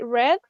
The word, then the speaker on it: read: in infinity and this the past and the past participle is like the color red okay but you write it the same way so I read six books last month